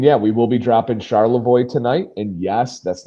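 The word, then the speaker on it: Charlevoix: And yeah, we will be dropping Charlavoy tonight. And yes, that's not even being funny. That is how you pronounce it.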